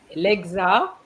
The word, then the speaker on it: le: You have to remember that LE gives you what sound, Farel? L-I, lo. Le. So why did you say la?